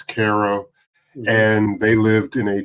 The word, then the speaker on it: Cairo: to what is called Caro. It's spelled like Cairo in Egypt, but it's Ko.